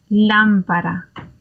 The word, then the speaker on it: lámpara: Now, again, if you imagine that there is a double T sound in there as a New Yorker, and you're thinking of the word bottle, then that bottle, you could replace that in for your single R.